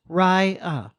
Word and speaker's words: Rya: I've taken the name Raya, pronounced Raya.